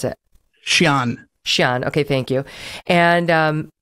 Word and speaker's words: Xi'an: I'm not sure how you pronounce it. Xi'an.